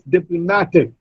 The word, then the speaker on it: diplomatic: Now, it is not diplomatic. It's not diplomatic, it's diplomatic. Ma, the third syllable receives the stress. And dip, the first syllable receives the secondary stress. The primary stress is on ma.